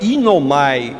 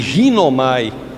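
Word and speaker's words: γίνομαι: Em grego, a palavra é inomai, ou como pronuncio em português, ginomai.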